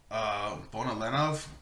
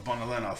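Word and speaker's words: Bonolenov: We've got Shizuku, Phaeton, Finks, Bonalenov, I want to say is how you pronounce it, though the narrator pronounced it differently, and Shalnark.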